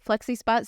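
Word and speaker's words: FlexiSpot: day so I purchased the flexi spot yeah that's how you say it flexy spot standing desk oh I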